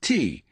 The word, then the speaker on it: Thy: By Mitchell, and yes, it's pronounced T, was 39 years old, born in Chicago, raised in Houston.